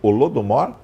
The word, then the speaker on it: Holodomor: cima o nome da exposição para não errar pronúncia holodomor rolou do morro rolou do modo o que